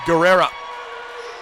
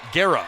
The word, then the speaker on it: Guerra: the raiders bring on katie guerrero excuse me she pronounces it guerra i beg your pardon katie guerra from avon lake